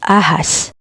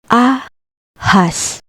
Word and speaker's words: ahas: The word ahas. The H is in the middle. Ahas. Ahas, meaning snake.